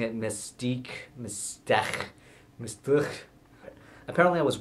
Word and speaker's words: MSTHK: the h in msthk or how everyone was pronouncing it mystique apparently i was wrong on it i went with mistake like mistake but with the uh speech impediment